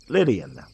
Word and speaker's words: Lydian: I'll go with Lydian, because it rhymes with alien.